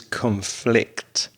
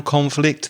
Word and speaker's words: conflict: the news is conflict and the verb is conflict so the noun conflict there's been more armed conflict in burma for